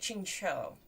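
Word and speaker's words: Qingqiu: what's the difference uh ching is closer to chinchou so the last syllable is more like a o than a u okay ching cho shen ching cho okay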